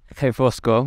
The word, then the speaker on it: Refosco: here and there, and he taught me that his name is pronounced Refosco, which is, you know, spelled with an R.